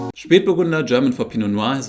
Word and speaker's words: Spätburgunder: product by the way we say speed burgunder and speed rhymes with and means late referring to the fact that it is a late ripening grape variety its existence was first